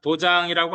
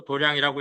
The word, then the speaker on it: 도량: 그래서 여기서 도장이라고 안 읽고 도량이라고 읽을 때는 깨달음의 자리다 이런 뜻으로 쓰는 거죠.